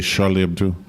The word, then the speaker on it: Charlie Hebdo: And then everyone's Charlie Hebdo, and they would say Charlie Hebdo. And you say, oh, okay, that's what it is. That's how you pronounce it.